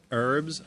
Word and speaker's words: herbs: ready for some expression herbs Masari alright lamb sausage with fresh herbs it's heads where I come from we pronounce our H's okay so I'm going